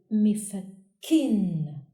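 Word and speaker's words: مِفَكٍّ: Doubled kasra on kaf results the sound kin, like in the example mifakkin, which means screwdriver.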